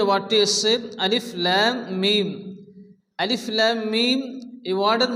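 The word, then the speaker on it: الم: হরুফে মুকাত্তায়েত বলা হয় লাম এবং মিমের উপরে মদের চিহ্ন আসছে লাম এবং মিম কে চার আলিফ পরিমাণ টেনে পড়তে হবে মিমের উপরে তাসদিদ এই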